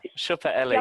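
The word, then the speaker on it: Siopaella: And the one I went to is called Siopalia, I think is how you Oh, pronounce it. Shuppa Ella, yeah.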